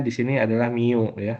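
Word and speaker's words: μ: Eh, Min dibacanya di sini adalah mu ya, mu.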